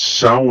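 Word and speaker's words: Samhain: to a local elementary school where he wrote sowin it means the lord of the dead it's pronounced SAU and Loomis and fun fact about this part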